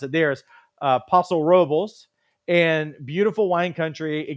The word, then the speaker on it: Paso Robles: Another one is in the Central Coast, and it's in the way that people pronounce it there is Paso Robles, and beautiful wine country.